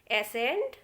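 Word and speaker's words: ascent: तो देखिए एग्जाम्पल, पहला लिखा है सीजर्स, इसमें सी को नहीं बोलेंगे, हम एस को ही प्रोनाउंस कर रहे हैं। एसेंट, फैसिनेट और मसल, इस तरीके से हमने केवल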